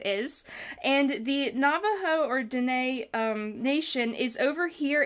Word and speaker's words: Dene: So they live over there, and when I say Dene, so Navajo is a name that other people gave the Dene people.